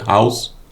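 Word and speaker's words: Haus: meaning behind how do you pronounce it you pronounce it house yeah house how do you how when did you come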